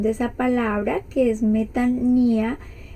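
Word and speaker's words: μετάνοια: En el paréntesis aparece la pronunciación de esa palabra, que es metanía. Algunos lo pronuncian metanoia, yo lo investigué y dice metania, pero pues más o menos se entiende que esa es como la pronunciación.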